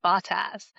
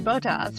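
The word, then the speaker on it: Bottas: Although I hate that they say his name Batas cuz that just sounds wrong. Yeah. No, but like this guy coverage says Batas and I'm like it's got to be Boto, right?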